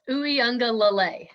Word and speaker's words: Uiagalelei: DJ Uiagalelei. Almost. Uiagalelei.